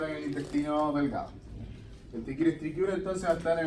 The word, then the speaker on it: Trichuris trichiura: Bien, chicos, vamos a pasar al otro nematodo, que es el ¿cómo se pronuncia esto? Trichuris trichiura, ya esa es la pronunciación del parásito.